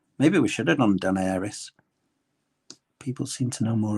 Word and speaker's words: Daenerys: Pronounced Daenerys.